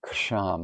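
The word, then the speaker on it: Kṣaṁ: And the tone is ksham with a silent K.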